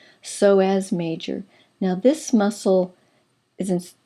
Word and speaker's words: Psoas: we're looking at is so as major the p is silent so as major now this muscle